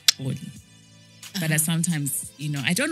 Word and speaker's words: Xolie: I was like, it means Zulu princess, Ndebele princess, whatever you want, but it's pronounced Oli.